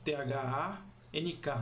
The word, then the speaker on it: thank: E aí primeiro que o TH já é um som que não existe no nosso idioma, e segundo que o A não tem som de A, tem som de E, né? Então, naquele momento, a palavra é pronunciada thank you.